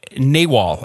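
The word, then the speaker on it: nagual: Uh naywal is the how you pronounce Yeah.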